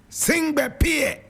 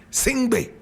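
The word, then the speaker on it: Sengbe Pieh: He was actually born singing Pier. Sing P. And singer is spelled S E N GB E sing P. Sing P. S E N GB E P I E H.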